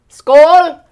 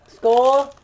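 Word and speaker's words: skål: how do you say it in in Danish Skool Skool M hi M it is earthy did you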